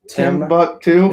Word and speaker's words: Timbuktu: Timbuktu. It's like Tim, like Timmy Hill, and then Buck, as in it's actually not spelled the same. It as is Buck.